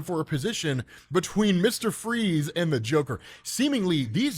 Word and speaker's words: Fries: keeps calling him Mr fries because technically it is spelled the way you would spell fries but it is pronounced freeze then they kind of